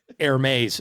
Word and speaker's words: Hermès: Hermès is how you say that.